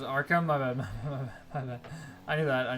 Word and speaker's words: Arkham: It's pronounced Arkham.